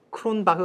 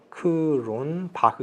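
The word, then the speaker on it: Cronbach: 돼 있는 사람이 있어요 크론 박 그런 박 아니고요 쿠론 바 합니다 얘 뭐 이렇게 되있어요 스펠링이 이렇게 해서 이렇게 크론 바흐 있게 돼 있죠 이상 독일 사람이거든요 원래 독일 주시네요 그 독일계 사람이죠 그래서 박을 하고 읽으셔야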